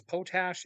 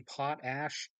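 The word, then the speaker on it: potash: anyways uh this is potach It's supposed to be pot ash but I said it wrong for years and uh since it irritated people I decided I'm going to keep saying it wrong so uh cringe and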